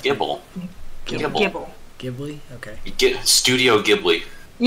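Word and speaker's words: Gible: Can you catch Ghibli until... Ghibli? What? How do you say it? Just correct. Gibble.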